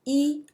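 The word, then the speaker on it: 一: as Bo how so when e stands by itself like you're counting 1 2 3 4 5 the pronunciation is first tone e so you can say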